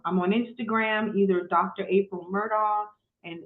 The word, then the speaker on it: Murdaugh: April Murdo and if you guys heard of the Murdo murders, yes, that's my last name is spelled that way.